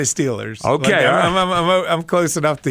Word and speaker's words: Steelers: I say Steelers. Okay, I'm close enough to Eastern for that. But you don't say Stillers.